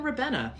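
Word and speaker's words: Ribena: time um I have I would imagine you pronounce this rabina um we would say rabina or even rabbena what is most exciting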